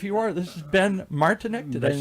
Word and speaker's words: Martinek: This is Ben Martinek. Did I Ben- say it right? Yes, you did. Martinek.